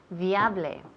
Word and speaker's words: viable: Primero tenemos una V y después B. Viable. Remember, cuando tenemos una B, los labios tienen que tocar.